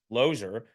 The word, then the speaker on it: Losier: certificate to this day my last name says l o e r it's loser loser and so uh my parents say and my grandparents say that it was always pronounced ler but you couldn't tell